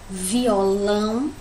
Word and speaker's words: violão: Aqui a gente tem a palavra violão, né? Que a gente já percebe que o lão é o mais forte, né? Violão. É aquele que eu pronuncio com mais força.